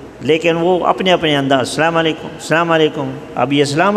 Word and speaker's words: السلام علیکم: کی کوشش ہی نہیں کرتے، تو یہ صحیح تلفظ ہے السلام علیکم۔ باقی بعض لوگوں نے یہ مشہور کیا ہوا